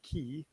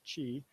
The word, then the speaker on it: chi: points a life force called key sorry Chi pronounced Chi circulates through the body